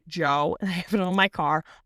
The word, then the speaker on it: Djo: It's pronounced Joe and I have it on my car.